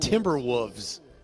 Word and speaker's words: Timberwolves: did you you said Timberwolves you Matt you do not pronounce the L timber wolves there is an L there timber wolves you're still